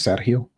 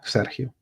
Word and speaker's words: Sergio: How do you pronounce Sergio? In Spanish, it's Sergio with he, Sergio. I guess in English it's Sergio. Maybe in Italian it's Sergio too.